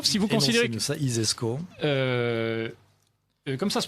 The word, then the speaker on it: ISESCO: Alors l'ISESCO, si vous considérez que ça, ISESCO, comme ça se prononce, ISESCO.